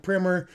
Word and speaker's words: primer: Ellie Cheva says, "I looked up the pronunciation of primer." Primer with a long eye is also correct.